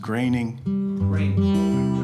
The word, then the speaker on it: Groening: And sorry, Matt, we know your name is pronounced Groening, but that's okay.